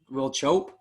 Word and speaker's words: Will Chope: saw your video against um was it will will chope is that how you say his name yes